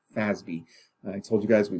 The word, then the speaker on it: FASB: financial accounting standards board which we pronounce fasbi i told you guys